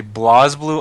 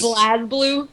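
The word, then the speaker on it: BlazBlue: such like that but every time I hear anybody say blah blue I want to strangle them oh my God pleas Blas blue yeah blast God BL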